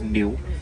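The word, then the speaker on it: gnu: That name is spelled G-N-U, pronounced new.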